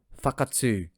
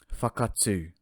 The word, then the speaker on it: Whakatū: Alright, pronunciation first, then we get to the meaning. First up, we have Fakatsu, Fakatsu.